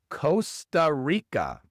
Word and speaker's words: Costa Rica: Y en la segunda palabra, la R, claro, es una R inglesa, no es rica, sino rica. Rica. Costa Rica.